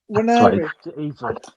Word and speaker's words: Nwaneri: Do you know what this Nathan Nwaneri? Sorry, Nwan. I can't say his name. Nwaneri. Yeah, there you go, Lady B.